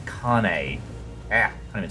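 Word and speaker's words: Kainé: Not Kanye. Kane.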